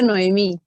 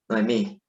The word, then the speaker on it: Nohemí: Ajá, se pronuncia Noemí. Noemí.